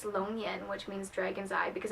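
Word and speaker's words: 龙眼: I'm not sure how to say it in English, but in Chinese it's longyan, which means dragon's eye because it looks like a dragon's eye, and maybe I'll insert a picture of it.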